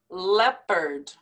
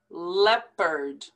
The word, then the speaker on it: leopard: that l in salmon leopard don't pronounce that o leopard eligibility eligibility recidivism recidivism